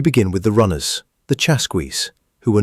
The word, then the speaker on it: Chasqui: You're a Chasqui, pronounced Chasqui, and your job is simple in theory.